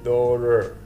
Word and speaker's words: daughter: كلها معاني لكلمة cousin daughter daughter ممكن انطق بالT زي ما قلنا وممكن انطق بالD سريعة بقول daughter تبان ان هي R سريعة daughter father father لاحظوا في